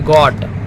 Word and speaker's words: got: जैसे गॉट, GOT गॉट, इसमें क्या आ रहा है, गो आ रहा है उच्चारण।